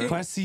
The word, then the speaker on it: Kwesi: Not even attempting to pronounce that. It's Kwesi. Hey, no, it's Kwesi Odofo Mensah.